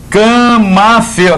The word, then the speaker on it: camafeu: Era de usar camafeu, aquele brochinho, sabe? Aquele brochinho antigo que as pessoas usavam. Camafeu. Olha lá, sílaba tônica é o eu, feu.